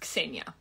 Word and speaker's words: Xenia: clear quickly very fast my name is pronounced Kia not Zena Kia there's no Z sound Isa um another thing